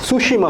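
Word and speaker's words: Tsushima: ऑफ सुशिमा हुई थी वैसे सुशिमा की स्पेलिंग के आगे टी भी है यहां पे टी साइलेंट है है ना जी वही जैसे कि आप ये समझिए कि सुनामी में होता है वैसे ही आज के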